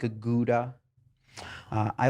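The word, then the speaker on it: Gouda: hard like a mano uh I like a goua uh I like do you know gas actually pronounce Huda really yes but that's only by food nerds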